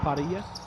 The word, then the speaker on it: Parrilla: Is it pronounced Parrilla? Parrilla. Cambio. Yeah, it's got a little bit of Parrilla.